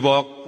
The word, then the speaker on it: walk: We walk the talk. Not only talk the talk, Teman-teman. Kata ini sama ini. Cara bacanya huruf A-nya diganti O terus huruf L-nya enggak usah dibaca.